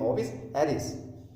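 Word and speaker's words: Ovis aries: हिंदी में एराइस लिखा हुआ है पर इसकी प्रोनाउंसिएशन ऐसे होती है, ओविस एरिस।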